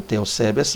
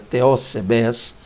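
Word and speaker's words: θεοσεβής: Teósebes, a palavra Teósebes ou Teosebes, mas seria Teósebes, seria a palavra, lembrando que Teos aqui é Deus, tá?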